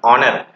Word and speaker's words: honor: So definitely sometimes the words begin h, some words start with h, but h is not sounded, yet h is silent. Like this is not called honor, it is called honor.